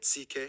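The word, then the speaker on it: Székely: Yes, that's how you pronounce it, CK.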